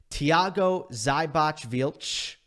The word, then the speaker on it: Thiago Seyboth Wild: Honorable mention in this category going to Thiago Seyboth Wild.